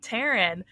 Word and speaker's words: Tarin: what I thought and he was like I see that's your name because obviously have a name tag on and you know he's like pronounced the same I'm like yeah and